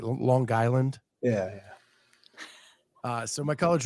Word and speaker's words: Long Island: from long and and it's more a hard G right Long Island yeah uh so my